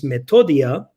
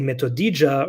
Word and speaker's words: Metodia: made fun of because my name is metodia and they would say metodija or metodaija because they couldn't pronounce it and in order for